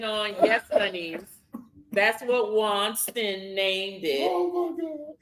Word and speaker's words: Winston: Oh, you call him Winston? It's Winston, WANSTON. It's Wanston. Wanston.